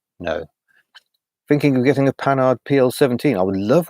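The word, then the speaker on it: Panhard: unfortunately fascinating cars the pan ads that's not how you pronounce it that's how as English pronounce it do you like the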